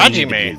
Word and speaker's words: Hajime: He doesn't Hajime. That's how you say his name.